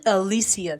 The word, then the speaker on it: Alicia: Alisia, cuz that's how you say it. It's not Alicia. It's Alisia Silverstone who plays Kate, her husband or her ex-husband is Oliver.